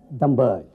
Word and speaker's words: Dhambaali: And here in Kashmir, we pronounce it as Dhambaali.